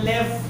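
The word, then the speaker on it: לב: sa word na lev lev po siya pero lev ang pronunciation sa kanya Mayon siyang another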